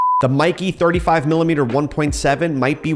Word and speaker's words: Meike: Mikey 35 millimeter 1.7 I'm pretty sure it's pronounced Mica yeah no not in this office it's not we love Mikey the Mikey 35 millimeter 1.7 might